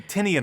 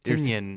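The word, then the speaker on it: Tynion: to say it tan we say tenian a lot here but it's t ten tenan yeah thank you Twitter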